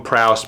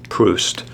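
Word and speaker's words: Proust: book by this guy I called him PR but it's pronounced Marcel PR although I'm sure this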